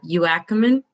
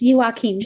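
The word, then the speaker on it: Youakim: pronounce this wrong uh you ackman you ackman oh close you joaquin thank you don't worry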